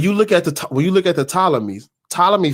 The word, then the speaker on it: Ptolemy: It's Ptolemy.